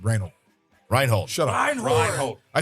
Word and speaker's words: Reinhold: rold Wendy kusen who judge Reynold all right reinold I said reinold Reinhold shut up rein reinold I said I said